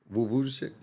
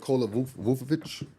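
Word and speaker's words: Vučević: Nicholas, how you pronounce the name? Nicholas Vucevic. They call him Vucci Man. Yeah. Nikola Vucevic.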